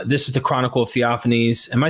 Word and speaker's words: Theophanes: the sources um this is the chronicle of theophanes am I saying that properly yeah absolutely right that's how I always pronounced it so in theophanese the cro uh